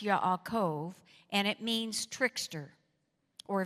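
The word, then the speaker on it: יעקב: not rightly named Jacob now it's pronounced Yakov and it means tricker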